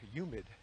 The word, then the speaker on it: humid: from the Bronx and we never pronounced our h's with the word humid we would say humid with a white no H but I've been noticing